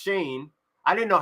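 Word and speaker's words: Schoen: jersey sales the Giants are working that is pronounced Shane I didn't know how to say it s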